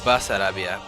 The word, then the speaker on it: Bessarabia: Bessarabia, or as pronounced regionally, Basarabia, is a region in southeastern Europe bordered by Romania and the Ukraine.